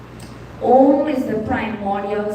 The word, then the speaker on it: Om: So when we're saying Om, Om has 3 syllables, right? What are they? Don't tell me you all don't know that. Well, then you have to say it with me. What syllables are you saying there? What sound of which letters do you hear there? I hear a prompter in the front here. Say it loudly. A-U-M. Yeah, it's not O-M.